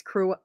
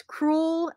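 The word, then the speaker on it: crewel: sunset stitchery christmas memories crew oh okay i just said this wrong in a video and somebody said it's cruel like it rhymes with school so if that was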